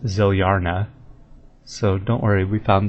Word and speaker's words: Zilyana: And then Zilyana, or Zilyana, which is pronounced Zilyarna.